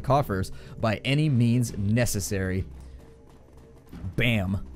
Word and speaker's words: BAMN: by any means necessary bam but spelled like Dam B A MN it's like bam and damn mixed together bam all right here